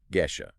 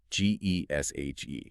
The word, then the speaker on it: Geshe: When an English speaker sees G-E-S-H-E, convention dictates that we pronounce it with a hard G, like in get or guest, Geshe. Which roughly approximates the original Tibetan sound.